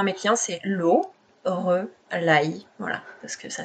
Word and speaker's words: Loreleï: Donc je dis souvent à mes clients c'est Lauraille, voilà, parce que ça s'écrit, voilà.